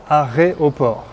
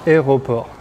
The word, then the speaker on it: aéroport: vous pose parfois problème parfois j'entends des élèves qui disent aéroport donc c'est pas aéroport mais à aéroports à airoport entraînez-vous à répéter ce